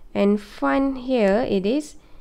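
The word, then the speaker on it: Pfund: Lyman, Balmer, Paschen, Bracket and Fun. Okay, so macam mana nak ingat? Lyman, Lehmann, Balma, balik, pasien, pasar, bracket, break, fun, putus. Okay? So, fun ni mesti ejaan betul lah. P-F-U-N.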